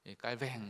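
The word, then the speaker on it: Calvin: 우리 장로교의 창시자인 존 칼빈, 영어로는 칼빈인데 이제 불어권, 그 사람이 사실 불어권에 살았거든요. 이 프랑스어 쪽으로는 깔뱅 뭐 이렇게 발음한다고 합니다.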